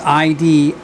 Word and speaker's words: Idylis: Idylis, I-D-Y-L-I-S, Idylis. Then again, who knows what their pronunciation was.